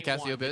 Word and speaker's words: Cassiopeia: Yeah, Cassiopeia.